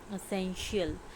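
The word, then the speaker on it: essential: correct answer है हमारा एसेंशियल इसमें आता है टी आई एसेंशियल जिसमें टी साइलेंट रहता है यह वाला तो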